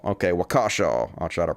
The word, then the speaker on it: Waukesha: The headline is, police refuse to rule out terror in Waukesha attack.